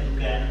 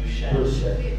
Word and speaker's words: Duchenne: Che poi tra l'altro vedi sono stato anche ho sbagliato anche nella pronuncia del video perché non è Duchenne, è Duchenne. Duchenne, perfetto, bisogna.